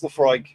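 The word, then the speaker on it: Laphroaig: But Leafroy Leaf, I don't know how to say it, but it's good shit. It's Leafroy.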